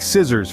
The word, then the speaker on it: scissors: their spelling and pronunciation take scissors for instance the first C is pronounced but the second one is silent or consider muscle where